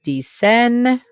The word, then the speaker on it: dicen: It's pronounced dice, dice, dice, dice. Los estudiantes dicen, tú dices, los turistas dicen, mis amigos y yo decimos, and, the daughter of my aunt.